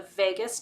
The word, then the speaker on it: vagus: do research on the vagus nerve. It's spelled like Las Vegas, or it's not spelled like Las Vegas. It sounds like Las Vegas, but it's not spelled that way.